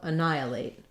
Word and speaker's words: annihilate: like uh and then we have the stress before the NYE syllable so uh Nai uh plate so stressing on nigh I'm spelling that respelling that for you like we do in night and I uh late um so same as the word late just has the a diphthong I've Rewritten that for